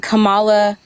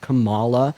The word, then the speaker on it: Kamala: Her name is pronounced Kamala Harris, not Kamala or Kamala or Kamala or anything else that y'all like to say.